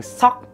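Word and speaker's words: 석: Không có ai tên là Suk hết. Mà cái từ này các bạn nên đọc đúng, đó chính là chữ Sok.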